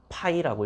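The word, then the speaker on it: ∅: 요걸 뭐라고 읽냐면 파이라고 했습니다. 파이 그리스어로 파이 로마 그리스로마자 있잖아. 파이 그 파이 말고 3.14 말고 파이라고 합니다.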